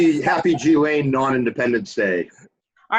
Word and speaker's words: Ghislaine: How about Ghislaine or Ghislaine or whatever, however you pronounce her name? It's actually Ghislaine.